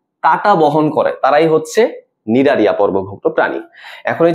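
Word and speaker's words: Cnidaria: আচ্ছা, নিডারিয়া তুমি যদি নামটা দেখো, নামটা কিন্তু সি দিয়ে শুরু হয়, হ্যাঁ উচ্চারণের মধ্যে কিন্তু সি নাই, বাট নামটা শুরু হয় তোমার সি দিয়ে।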